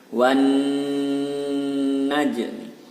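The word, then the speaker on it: وَالنَّجْمِ: Wan, nunnya bertasdid maka dibaca double, dibaca dengung 2 harokat. Wan najmi, wan najmi. Dan huruf jimnya berharokat sukun maka dibaca qalqalah sughra.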